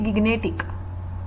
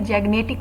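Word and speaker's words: gigantic: मुझे पता लगा था, मैं इसको बोलती थी गिग्नेटिक, इवन अभी लास्ट टाइम तक गिग्नेटिक। फिर मैंने इसकी प्रोनाउंसिएशन देखी, क्योंकि मुझे अपनी ग्रोथ पर काम करना है, मुझे अपनी पर्सनैलिटी पे भी काम करना है। सो मैंने वहां से देखा कि गिग्नेटिक नहीं होता, ये जैग्नेटिक होता है, जैग्नेटिक, ओके, जैग्नेटिक,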